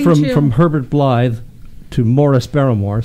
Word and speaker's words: Maurice: from Herbert Blythe to Morris baramore spelled Maurice but English pronunciation to spirit's family the